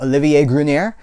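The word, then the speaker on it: Olivier Gruner: This is, I believe we would pronounce his name Olivier Grunier.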